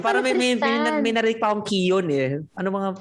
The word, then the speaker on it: Keoghan: Keon daw. Keon ang pronunciation niya.